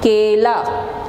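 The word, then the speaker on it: केला: Fifth one, k, a, l, a, kela. You pronounce this kela.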